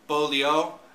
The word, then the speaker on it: Beaulieu: It's if you don't know how to pronounce the first part, the B part, it's Beaulieu.